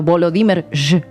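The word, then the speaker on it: Volodymyr: contra un instructor de buceo el ya mencionado volo dimer así se pronuncia en junio pero la orden no fue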